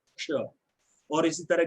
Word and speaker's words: क्ष: तो ये ध्वनि क और षटकोण वाले श से मिलके बनी है क्ष।